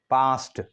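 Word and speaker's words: passed: यहां पर इसका जो तल व है पास्ट पास्ट मतलब इस डबल एस की वजह से ईडी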